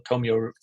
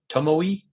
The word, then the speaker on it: Tomoe: So yeah, really, really great little Tomio River or how, I don't know how to pronounce them. Tomoe.